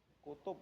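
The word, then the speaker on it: كتب: Kutub ya, tadi kitub atau kitab ya bacanya? Kutub ya.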